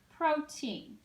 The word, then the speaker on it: protein: over the oh so now I can pronounce this syllable as pro and this syllable says teen protein that makes sense doesn't it protein and the accent would be on the first syllable protein all right let's